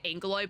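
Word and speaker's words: Aggeloi: Oh, so It's just a big Agaloy. That was, oh my god, that was a contentious topic. Is it Agaloy or Angaloy? Because they say it Angaloy, but it's spelled Agaloy or Agaloy.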